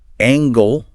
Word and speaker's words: angle: But be careful. Angle. Like a right angle in math. That does have a hard g.